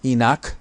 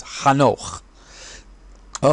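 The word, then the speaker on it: חנוך: these great people included ha Noah or is the English is Enoch but the proper translate of the proper pronunciation is Han oh ah so Methuselah shame and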